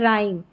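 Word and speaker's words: rhyme: रिदमम और यह है राइम र यानी एच यहां पर साइलेंट है आर का उच्चारण है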